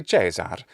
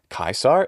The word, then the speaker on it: Caesar: it doesn't make sense we could also just as easily use the traditional italian or ecclesiastical pronunciation we'd say jesar or jijaro and it's the same thing if you want to do that in english it doesn't matter those don't have to be traditional pronunciations in english if you wanted